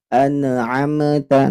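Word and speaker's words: أنعمت: Nun dan mimnya tidak boleh dipantulkan, harus ditekan membacanya.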